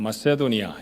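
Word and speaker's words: Macedonia: 거기 그 도시를 담고 있는 그 주변을 가리켜서 마게도니아 그렇게 말하죠. 영어 발음으로는 마세도니아 이렇게 부르기도 합니다.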